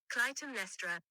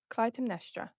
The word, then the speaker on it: Clytemnestra: I'm going to have to look up that pronunciation. Give me 1 second. Clytemnestra. Is that what I said? Did I get it right? Clytemnestra.